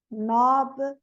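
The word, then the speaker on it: knob: K is always silent in the word initial spelling sequence. K-N. Não, sempre na KN, o N não é pronunciado como Neil, Ni, Nob, Night, Nave, Knowledge, Knife, Knock.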